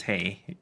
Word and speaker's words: TAE: Well, then I'm pretty sure TAE is pronounced Tay, even according to convention.